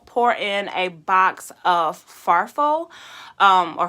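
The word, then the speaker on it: farfalle: then we po pour in a box of farfo um or farfully however you want to pronounce it barilla pasta so those are the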